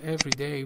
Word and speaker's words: everyday: The first one is everyday, which is an adjective, and the stress is on the first syllable, and it comes before nouns.